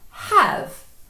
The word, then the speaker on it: have: Have. It looks like an open syllable, but we read it as a ha have Why? It's just historical.